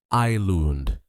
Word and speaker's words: island: Many learners say island, but the S is silent. The correct pronunciation is just island. Practice with me. Eilund.